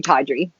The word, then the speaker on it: Taudrey: tea period Audrey but our customers just kept pronouncing tawdry that's the way that it would like roll off the tongue so we evolved drop the period and kept the name tawdry ah don't you love when